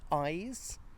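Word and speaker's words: Ise: The bridge we're going is over the River Eyes, which is a river in Kettering. And the rivers have eyes. Very nice. Though, of course, it's spelled eye.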